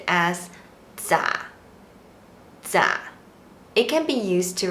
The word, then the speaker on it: 咋: is also regional In daily life, it is pronounced as “咋 zǎ” It can be used to replace “怎麼” Here are some examples To be more casual, you can say “咋辦?”